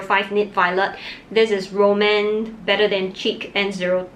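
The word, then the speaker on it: rom&nd: do not disappoint me I used to think that it was pronounced as Roman but it's actually Roman after I saw the owner pronounce it in one of her videos I really like it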